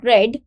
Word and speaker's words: read: everyone yesterday so here this word read is basically uh the second form of the verb pronunciation of which is red though the spelling remains same whether it is in first form second form or the third form so the spelling will